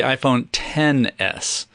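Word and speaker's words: iPhone XS: Oh, I'm We're even saying it wrong. The iPhone 10S. Sorry. The X is a 10, but I still say X in my head.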